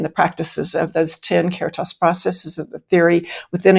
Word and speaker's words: Caritas: So Caritas coaching, what is that? Am I pronouncing that correctly? That's right. Caritas, Caritas, either way.